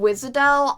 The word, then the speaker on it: Wiš'adel: Oh my god, Wiš'adel. I never know that's actually how you pronounce it, but Wiš'adel, yeah, I in the game, you know how there's the borrowing, like, friends unit thing?